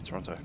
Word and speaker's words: Toronto: Delivery, Air Canada 427, requesting clearance to Toronto. He said, pronouncing the second T.